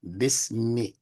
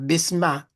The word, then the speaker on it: bismi: Bismi. You hear that me? That's the kesra. Say bismi. Bismillah. Right. That's the kesra at the end of that. Bismi. Yeah. Not bisma, not bismu, bismi.